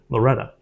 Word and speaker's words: Loretto: own restaurants in Loretta they pronounce it Loretta get back Loretta that's the song there you go that's